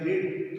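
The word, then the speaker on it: read: First form क्या थी, रीड, तो रीड की थर्ड फॉर्म भी क्या होती, रीड, रेड, रेड। स्पेलिंग इनकी समान होती है लेकिन उच्चारण में रीड, रेड, रेड बोला जाता है।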